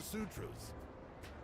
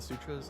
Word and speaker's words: sutra: ass off mentality Sam how the sutras is pronounced Sutra is it not Sutra Sue is in like to sue somebody and then Tru maybe I should think